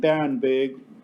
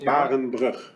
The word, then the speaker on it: Barenbrug: And Barenberg, or Brugg, is a... thank you, Jeff. That's how you pronounce it. Barenbrug.